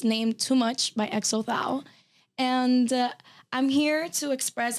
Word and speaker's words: Xothal: Xothal, yeah. Xothal.